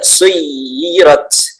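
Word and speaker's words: سُيِّرَتْ: Di al-jibal tidak ada penekanan, tapi di ya di situ ada suyirat. Suyirat. itu ada penekanan ya.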